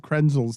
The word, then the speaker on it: Krenzel: is not better than that why did you pronounce craig krenzel's name that way it's ten dollar fine is